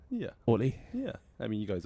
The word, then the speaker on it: Oli: London friend ho olle that is how you pronounce it is that how most people uh call you yeah Olie yeah Olie yeah I mean you guys are pretty spot